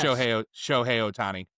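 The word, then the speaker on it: Shohei Ohtani: Show Otani is how you pronounce it.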